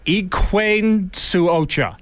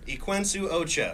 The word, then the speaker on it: Equinsu Ocha: song is and here let me know if I get the pronunciation right I've been practicing eain Ocha close enough what is it say it quenu Ocha which translates to white